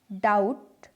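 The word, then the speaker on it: doubt: जब B किसी spelling में T से पहले आए, जैसे डैट, डाउट, सटल। इनमें T से B पहले आ रहा है और B साइलेंट है।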